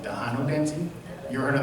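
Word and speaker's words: Tejano: here in San Antonio a former dance called Dano dancing you ever heard of that no it's spelled t e j a n o and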